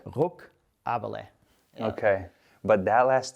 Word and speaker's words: Ruckaberle: It's Ruckaberle. Ruckaberle. Ruckaberle.